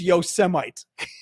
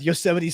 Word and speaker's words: Yosemite: at the word yosity and thinks it means Yosemite oh God Isaac neutron he did not say